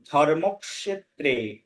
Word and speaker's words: ধর্মক্ষেত্রে: হ্যাঁ, ওর উচ্চারণটা এবার আপনি নিজে নিজে দেখুন, উচ্চারণটা হবে ধর্মক্ষেত্রে।